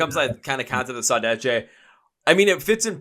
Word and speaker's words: saudade: It's saudade.